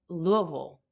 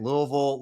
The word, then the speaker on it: Louisville: So Louisville, Louisville, Louisville? Louisville. Louisville. You got not Louisville, because that's in Mississippi.